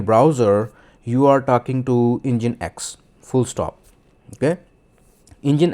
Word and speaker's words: Nginx: And container three is a engine X or in writing it's it it's written as NG INX but in pronunciation it is called engine X.